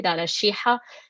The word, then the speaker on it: Lara Sheehi: So as you noticed, when I started with an Arabic greeting, and I pronounced my name correctly, Lara Sheehi.